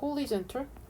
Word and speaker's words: horizontal: 명사일 때랑 형용사일 때랑 발음이 달라질 때 수평선, 지평선 할 때는 horizon이라고 읽고 이렇게 tal이 붙어서 형용사가 되면은 horizontal 이렇게 됩니다.